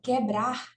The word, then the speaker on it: quebrar: Quando a vogal, ela não tiver som pronunciado, como na palavra quebrar, nós temos o U e o E. Só que a gente não pronuncia esse U, né?